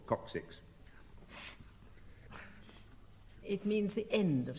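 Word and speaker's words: coccyx: I always mispronounce this, but it is called coxix.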